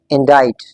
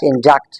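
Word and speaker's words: indict: एंड इस word की correct pronunciation या एक्चुअल प्रोनंसिएशन क्या है? इंडाइट इट्स नॉट इंडक्ट इट्स इनाइट।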